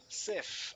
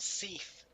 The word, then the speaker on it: Seath: Sith, as in the cleaning product, not Seath, as in I'm seething with rage.